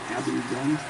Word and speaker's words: Abingdon: A-B-I-N-G, Dun, Abingdon.